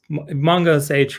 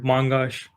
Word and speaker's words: mongosh: And unlike the previous Mongo CLI, this MongoSage or Mongosh, however you want to pronounce it, we haven't really settled on anything.